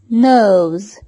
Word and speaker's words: knows: knows. يعلم. knows. no هنا كي جاءت صامتة. no. no. لا نقول ك، إنها ثقيلة. نطق كي في هذه الكلمة ثقيل. نقول كنو ليست جميلة بتاتا. no.